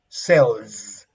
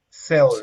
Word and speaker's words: sells: Clear S, but in this case, is sells, and the pronunciation of a final Z is S is Z, like a mosquito flying, with Sells. a vibration, with a vibration.